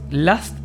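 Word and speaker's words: Lust: de mayo, que es last hair, son productos para el cabello. Last se dice con a, pero se escribe con u. L U S t.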